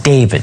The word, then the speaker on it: D4VD: car belonging to the pop star known as David spelled with a four.